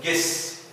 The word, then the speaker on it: guess: حرف اليو ممكن ألاقيه في بعض الكلمات يكتب ولا ينطق silent like in guess، زي كلمة guess يخمن. لم أنطق هنا حرف اليو، نطقنا إي مباشرة.